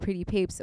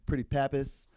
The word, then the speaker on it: Pretty Pape$: story yeah uh well a lot of people will be like oh man pretty pretty pappas pretty papa's pretty put papels they're like those are like kind of like mess with the with the with the pronunciation but it goes as papes tapes is in like rolling like rolling papers oh okay so when